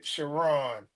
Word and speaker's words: Chron: pronunciation of my name you say shiron shiron shiron sh it's not the first to the last so don't feel bad I'm sorry I'm terrible with pronouncing names shiron you know the way it's spelled it's looks like it looks like K but it's it's pronounced shiron shiron okay wow so all